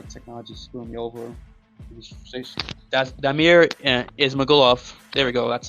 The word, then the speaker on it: Damir Ismagulov: That's Damir Ismagulov.